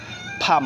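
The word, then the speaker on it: palm: খাম হচ্ছে শান্ত সো you watt pronounce on pronounce and this meaning Shanto so সি এম খাম হচ্ছে শান্ত ফাম হচ্ছে হাতের তালু পি এল এম ফাম পি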